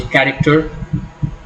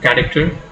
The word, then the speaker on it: character: The primary accent is usually on the first syllable in 3-syllable words if that syllable is a root. For example, character, character, 3-syllable word.